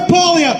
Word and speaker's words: Poilievre: And Poilievre, you know, what's that? What's his name? How do I pronounce? Pierre Poilievre, thank you.